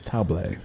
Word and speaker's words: Sur La Table: You're correct, but it's table. It's French. Table.